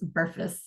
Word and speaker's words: BRFSS: the acronym for that is brfss and I pronounce it as burus so this was the data file that was